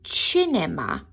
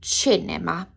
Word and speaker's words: cinema: This is un cinema. It's spelled cinema, but it makes a ch because of the grammar rules of CI and CE making a ch sound. So again, this is un cinema.